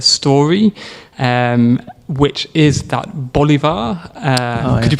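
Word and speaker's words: Bolívar: And I have have heard a story um which is that Bolivar uh could you pronounce that better for me? By Simon Bolivar.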